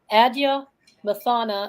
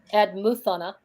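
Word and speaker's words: Adnyamathanha: All right, this is the water wisdom of the Adya Mathana, and sometimes you can hear it pronounced Admuthana peoples in southern Australia in a region called Flinders Range.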